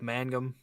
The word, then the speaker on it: Mangum: guy I guess my my thing with with Mangum I said it right this time I didn't